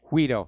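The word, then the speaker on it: Guaidó: Guido. Guido, okay. The G is pronounced as an H.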